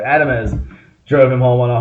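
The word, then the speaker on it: Adames: I always forget how to say his name because it looks so much like Adams. I want to say Adams, but there's an E in there. Adamez drove him home on a home run.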